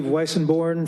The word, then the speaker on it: Weissenborn: Weissenborn, followed by Eric Frazier. Good evening, council members. Mayor Corsi, thank you for pronouncing my last name correctly. I'm Weissenborn with Mid-Penn Housing.